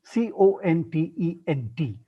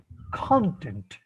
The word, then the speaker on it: content: One is content, which should always be pronounced as content, not content. Content is a verb, content is a noun or an adjective, and so please pronounce it as content.